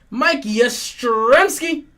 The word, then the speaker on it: Yastrzemski: Mike Yastrzemski. Mike Yastrzemski.